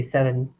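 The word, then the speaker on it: seven: So when we say 7, we say 7. It's a schwa. It's like an sound.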